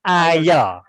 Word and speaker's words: aisle: Cara bacanya ayo. Aisle ini dibaca ayo.